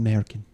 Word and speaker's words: Merkin: He's like, no, it's pronounced Merkin.